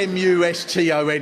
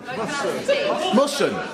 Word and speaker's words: Muston: There's no way M-U-S-T-O-N is going to spell Muston. What is it? Musson. Oh, there's no T. You don't pronounce T.